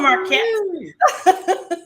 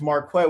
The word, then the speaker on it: Marquette: you what's going on marquette well it's marquette with the smooth q like i told you you're pronouncing my name like them white folks but i'm gonna forgive